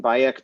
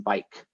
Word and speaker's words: Bayek: asked like well okay why the vocalization baek where did you come up with that pronunciation because we don't actually know what the middle egyptian would have sounded like they said well uh we named him bayek because we didn't want to call him bike because that sounded too